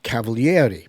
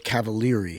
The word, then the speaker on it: Cavaliere: He pronounced it on TV Cavaliere because in Italian you pronounce all the vowels. However, in America, that's unheard of. So it's Cavaliere here.